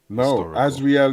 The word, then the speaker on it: Azrael: r a e l that actually sounds a little azreel is Hebrew the name is a